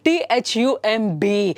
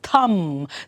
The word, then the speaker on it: thumb: Next one, THUMB. So though the B sound letter is there, how do you pronounce it? It is thumb, thumb.